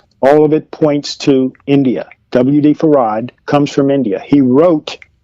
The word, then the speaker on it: Farad: Everyone who says that they had heard him use his name say that he pronounced his name Farad.